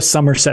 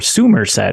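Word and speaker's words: Summerset: it's just like the somerset expansion or it's like literally Somerset or Sumer set if you want to have how it used to be pronounced in the series yeah yeah yeah okay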